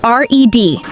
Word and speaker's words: read: Same spelling a pie, but two completely different sounds depending on the tense. I read everyday. Say read. Past tense cod, I read the book yesterday. Say it like r e d, red.